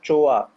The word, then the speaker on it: Choa: brilliant brilliant I'm sure tell us about Master Choa is it pronounced that way yes yes master sure how